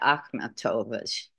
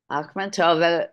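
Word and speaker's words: Akhmatova: the top her paintings are directly influenced by akova poetry I'm sorry no she's a poet Nobel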